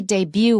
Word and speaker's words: debut: make a debut novel this is a French word and that's why we don't pronounce the T and it means your